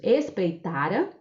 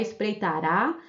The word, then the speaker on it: espreitara: Esse trecho aí traz 3 verbos: espreitara, batera e conseguira. Esses verbos não estão no futuro, porque não está com a última sílaba acentuada. Não é espreitará, não é baterá e nem é conseguirá.